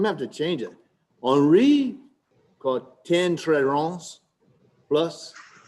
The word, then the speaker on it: Henri: You can call it not Henry, but Henri. Henri caught 10 turtles plus Traron.